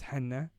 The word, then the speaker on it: Hannah: is hannah it's it's spelled like hannah so my parents just gave me john the boring name but my name is henna and uh yeah i